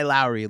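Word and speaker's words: Lauri: it wrong it's not Lori Markin my mom's name is Lori so I'm pronouncing it Lori but it's you said guy Lowry like he rhymes with Kyle Lowry and so I was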